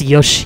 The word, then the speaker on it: Yosh: Actually, it's Yosh as in Yoshi, but the I is silent.